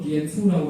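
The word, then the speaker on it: 蝙蝠: 그 박쥐는 중국어로 비에 푸라고 발음하는데, 그 푸의 발음이 복의 푸하고 발음이 같기 때문에 중국 사람들한테는 복을 상징합니다.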